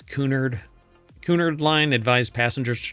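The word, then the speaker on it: Cunard: I don't think it's pronounced Connor, right? It's Coonard.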